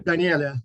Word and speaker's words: Daniele: So you pronounce Daniele or Danielle? Daniele.